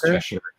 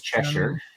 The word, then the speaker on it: Cheshire: Unsourced, country equals England, region equals Cheshire, 1820s.